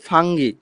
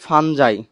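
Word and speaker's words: fungi: শৈবালকে বায়োলজিতে বলতেছি অ্যালগি, আর ছত্রাককে বলতেছি ফাঙ্গি। শোনো, অনেকে এটাকে ফাঙ্গি বলে, অনেকে বলে ফানজাই। দুইটাই সঠিক অ্যান্সার, হ্যাঁ। দেখো, এই উচ্চারণটা ফাঙ্গি বললেও হবে, ফানজাই বললেও হবে।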